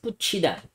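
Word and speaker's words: 붙이다: And number two, putchida. So what is putchida? So remember guys, yung pronunciation ng dito yung th sa baba and combination with e, it's chi. Okay? So this one is putchida.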